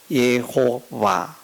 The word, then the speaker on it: 예호와: 히브리어 전문가가 아니니까 그러나 좀 더 정확한 것은 여호와가 아니고 예입니다 예호와 그 봐도 아니고 와도 아닌 그런 발음이 이제 정확한 발음인데 한글 표기로는 표기가 표기하기가